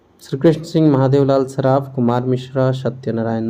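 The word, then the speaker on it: श्रीकृष्ण सिंह: श्री कृष्ण सिन्हा है, श्री कृष्ण सिंह सही प्रोनाउंसिएशन है, श्री कृष्ण सिंह।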